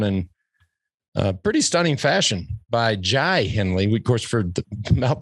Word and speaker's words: Jai Hindley: I was like, hey, just FYI, here's how you pronounce his name. We're like, check. Jai Hindley.